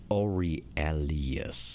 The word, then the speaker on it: Aurelius: angelino i am so glad you had to pronounce that name because that was not happening here it's ori alias they become involved in an occult yep these